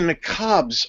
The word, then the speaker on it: niqab: It's spelled Niqabs.